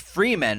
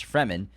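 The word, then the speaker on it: Fremen: yeah I remember that he's like no it's pronounced Freeman I'm and then when the movie came out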